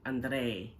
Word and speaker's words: Andrei: After, specifically Elizabeth and Andrei, or Andre, as we Westerners say it. Andrei is how Elizabeth pronounces his name, like she has a Moldovan accent, but she does not.